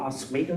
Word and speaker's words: Oswego: So John Kinnally was born in Syracuse, New York, and went to college in Oswego State. Am I pronouncing that correctly? Doesn't matter, but yes.